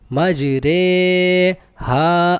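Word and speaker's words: مجرىها: کو امالہ کہتے ہیں۔ امالہ کی راہ کو اردو کے لفظ قطرے کی راہ کی طرح پڑھیں، یعنی ری نہیں بلکہ رے پڑھیں۔ ہجے اس طرح ہوگی: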